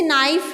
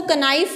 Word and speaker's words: knife: कुछ इस तरह के साइलेंट वर्ड्स होते हैं ना, जैसे नाइफ है, नाइफ, KNIFE, नाइफ. इसमें हम इसको कनाइफ नहीं बोलेंगे, इसको नाइफ बोल रहे हैं हमने, बिकॉज के इसमें साइलेंट है. इसी तरह यहाँ पे रैप्ड